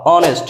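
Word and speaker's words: honest: means সম্মানীয় অনেস্ট সৎ অনেস্ট সৎ অনেস্টি সততা সবগুলো ওয়ার্ডেই এইচ আছে কিন্তু একটা ওয়ার্ডেরও এইচ এর উচ্চারণ হয়নি এর কারণ হচ্ছে যখন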